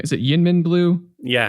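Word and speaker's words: YInMn: Well, in our last Cobalt Blue episode, we were talking about the new, oh my gosh, I always butcher the name. Is it Yinmin Blue? Yeah. Yinmin, okay.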